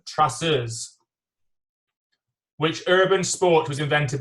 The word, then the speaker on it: traceurs: Can you say it without the accent? Like in French? Traceurs.